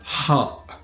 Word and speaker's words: ح: So it is ha, ha. So try to practice this with me. So it's different from the ha, which comes from down below, but it's ha, comes from here, this area, ha.